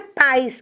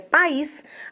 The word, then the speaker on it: país: Interfere na acentuação, por exemplo, é a palavra país. Ah lá. Não é país que a gente pronuncia, é país.